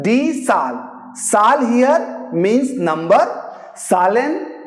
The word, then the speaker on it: Zahl: Now I am saying die Zahl. Zahl here means number. Zahlen means numbers. Here Zahl means number. Zahlen means numbers.